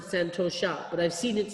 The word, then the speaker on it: santosha: I think everybody pronounces it santosha, but I've seen it spelled differently.